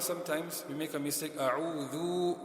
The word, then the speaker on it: أعوذ: A'udhu. We end up stretching a pesh. So it's just a quick dhu.